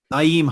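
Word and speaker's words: Nyheim: Kind of they have a habit of getting away from that run first, Jonathan Taylor, Naeem Hines, never know how to pronounce his first name. Naeem Hines, there we go.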